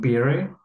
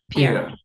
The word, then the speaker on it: Pierre: How do you pronounce it? P-I-E-R-R-E. His name, Pierre? P-I-E-R-R-O? R-R-E, I think. Oh, Pierre. Pierre.